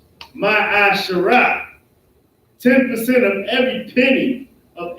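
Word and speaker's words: מעשר: It is pronounced ma'asharah.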